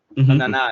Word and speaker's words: Onana: Onana, am I saying it right? Onana, yeah.